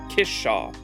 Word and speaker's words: kickshaw: The ck sound in kickshaw is almost entirely silent, so you pronounce it kishaw.